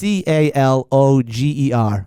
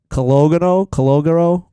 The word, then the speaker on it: Calogero: It's Caloger. How would you say that? Caloger. Chaloger? There's an O in the. It's not a silent O. That's not even close. Okay, so Calogero.